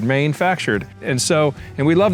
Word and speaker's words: Mainefactured: I'm not pronouncing it right, but it's if you spell it or read it, it's Maine, the state of Maine, my home state. Factured. Maine factured.